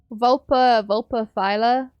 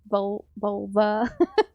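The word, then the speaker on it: Vulpaphyla: Vulpa Phyla is what they're called. Not vulva. I had to pronounce that very carefully.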